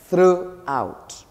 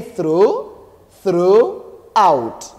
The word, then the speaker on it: throughout: we we we we read it or we pronounce it as throughout throughout throughout GH no we say through through out do you see throughout through like this then